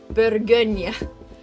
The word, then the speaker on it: Bourgogne: I've been learning how to pronounce Bourgogne for the past week or so, and I